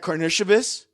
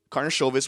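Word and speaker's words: Karnišovas: on this roster that karnativist karna shovis whichever pronunciation you like mark eversley and billy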